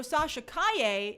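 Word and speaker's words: Sasha Calle: and i got it therefore wrong is it sasha kaye help me out guys i want to make sure i pronounce people's names correctly hi me oh jaime okay oh good i got it right so sasha kaye is going to be uh supergirl which i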